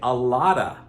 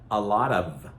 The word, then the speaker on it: a lot of: something, but we say a lotta, a lotta. Some people will also say a lot of, but we get that d, a lotta, a lotta, a lotta, a lot of, a lotta, a lot of.